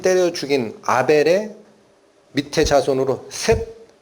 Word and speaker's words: 셋: 죽인 아벨의 밑에 자손으로 셋 세트라고 발음된 그 아들을 다시 주십니다 여기가 믿음